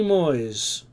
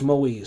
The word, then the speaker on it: Moise: Because I think it's Moise. So I'm trying to remind myself to say it right, especially to do it for the video, so I apologize, I've been saying her name wrong this whole time.